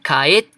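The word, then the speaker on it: 帰って: So, kaette. So, the ru here, we're going to do it like a small te. So, kaette. So, you have a pause when you're pronouncing it.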